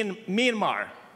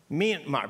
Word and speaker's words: Myanmar: number three Min m wait no it's actually pronounced me Myanmar it's an me sound Myanmar but you know my wife and I were